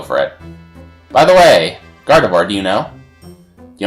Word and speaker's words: Gardevoir: Au revoir. Get it? Because it rhymes with Gardevoir.